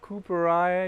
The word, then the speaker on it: cooperi: Now this one is called cooper eye. It looks coppery but so the name is after a gentleman named Cooper has nothing to do with a coppery color but okay.